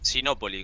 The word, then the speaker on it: Sinópoli: Es Sinópoli, con tilde en la primero, sí o sí.